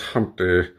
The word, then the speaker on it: Humpty: myself my name is Humpty pronounced with empty yo ladies oh how